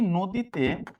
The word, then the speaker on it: নদী: তো এখন এই নদীতে এই নদীর উচ্চারণটা লাইক ব্যাপারটা এরকম হয়েছে। হ্যাঁ নদী। এখন দেখেন এইখানের এই নটা হ্যা এই নটা এখানে গিয়ে ও হয়ে গেল।